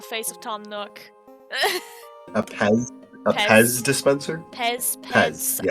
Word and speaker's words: Pez: A Pez. A Pez dispenser. Pez. Pez. I don't know. Pez. There's no T. Pez. Listen. Listen. This letter in German is pronounced as S.